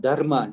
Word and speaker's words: dharma: it's our dharma uh i want to correct you it's not dharma that's the english pronunciation it's dharma the not dharma it's dharma and i would say